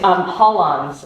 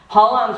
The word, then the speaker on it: holons: It's HOLONS, it's spelled HOLONS.